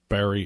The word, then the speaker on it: Barre: in wilkes-barre pennsylvania uh by the way in case you ever see it in print barry is spelled b-a-r-r-e and there's a hyphen